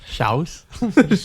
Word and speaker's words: Shas: or the shas jordan how would you say s-h-a-s shouse i know you in